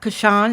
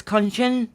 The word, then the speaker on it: Kanchan: is it conscient kanchan so it's not kashan it's konshin am I saying it